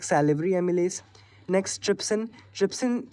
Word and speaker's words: Trypsin: Trypsin rhymes with Pepsin, and has the same function i.e.